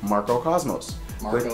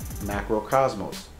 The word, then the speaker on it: Macro Cosmos: Radiance is good because it is a standing Marco Cosmos. Cosmos? Did I say it wrong? You said Marco Cosmos. What the hell's Marco? Polo. Banisher of Radiance is good because it's a standing Macro Cosmos.